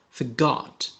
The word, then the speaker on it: forgot: Donkeys carrying huge chests inside, saying password, but forgot. Here R is silent.